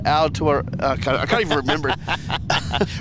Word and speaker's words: Aotearoa: We'll let you go, but just for one more time, how do you pronounce it? Aotearoa.